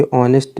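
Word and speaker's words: honest: तो मानसी इज तो यहां खाली स्थान में एन आएगा क्योंकि ऑनेस्ट में एच साइलेंट है ना तो इसलिए ऐसा हुआ।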